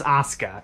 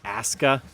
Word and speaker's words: Asuka: It's like you've got a Brooklyn accent trying to say the word Oscar. Apparently in the Netflix dub they pronounce it Asuka, but whatever way you pronounce it, there's just no U, it's silent in this particular case.